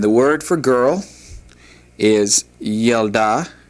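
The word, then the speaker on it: ילדה: And the word for girl is yelda. Yalda.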